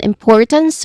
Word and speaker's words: importance: And then importance which has three syllables still we stress on the second syllable